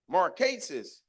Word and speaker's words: Marquise: Am I pronouncing the name right? What is it? It's what? Marquise.